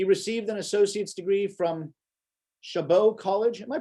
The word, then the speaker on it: Chabot: bay area he received an associate's degree from chabot college am i pronouncing that right yes all right thank you chabot college in park technology and a bs degree